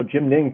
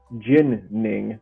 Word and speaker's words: Jin Ning: the rivermen right now Jim ning pitching beautifully for Oklahoma City just one run through five innings Jin ning not Jim my bad if you say his